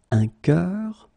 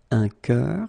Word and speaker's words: cœur: one is un bœuf, un cœur. Un cœur, it's actually quite interesting, because even if you write them differently, you pronounce them the same way.